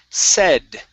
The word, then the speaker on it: said: Next up, we have the word said. Okay, short E sound.